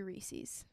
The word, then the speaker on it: Reese's: food for Keegan I it might be Reese's and that's how you say it is there another way to say it people think Reese's e